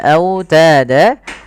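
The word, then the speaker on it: أوتادا: Kemudian autada, pada lafal autada, lafal wawnya lembutkan karena dia bacaan lin, sambil dimonyongkan sedikit bibir kita ke depan.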